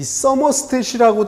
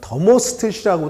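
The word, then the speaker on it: thermostat: 이 서머스탯이라고도 하고 더머스탯이라고도 하는데 그 이유가 이게 영어로는 TH가 더 이런 발음이 나잖아요.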